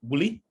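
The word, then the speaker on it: Wli: was in a place called bully not not like you really but uh which is spelled w-l-i okay so I was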